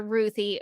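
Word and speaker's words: Ruthye: and tom king said she's named after my three-year-old niece ruthie so that's how i pronounce it but you be you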